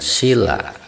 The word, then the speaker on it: sila: Panca artinya lima dan sila sila ini Hai diucapkan dengan vokal Iya walaupun tulisannya pakai white pendek nah ini artinya baratu